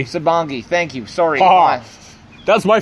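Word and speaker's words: Sabongui: I mean, it wasn't necessarily a personal moment, but I mean, uh, you know, we had, you know, Patrick sitting on Sabangi. Sabongi.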